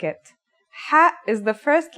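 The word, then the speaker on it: ح: Kha is a sound some people make when they laugh. It's also similar to the sound people make when they snore. According to phonetic charts, Ha is pronounced in a deeper part of the throat than Kha.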